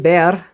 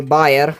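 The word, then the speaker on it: Baer: was made by JG bear or berer like b a e r I will just pronounce it the way I pronounce it in Romanian like buer in Switzerland in sumis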